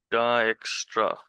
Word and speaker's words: Dijkstra: अब डाइक्स्ट्रा यहाँ पे जो वर्ड यूज हुआ है, It's written like this, but it is pronounced Dijkstra.